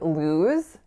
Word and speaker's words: lose: In the word lose, we have that diphthongized moving oo sound. So it's not like a pure oo. It's not lose, it's lose.